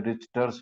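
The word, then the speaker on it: Richter: भी है बीच में रिचर्स ह रिचर्स हरनिया है टी साइलेंट रहता है रिचर्स ही उसको बोलते हैं और यह जैसे गट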